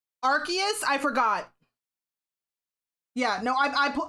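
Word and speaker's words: Arceus: Archus.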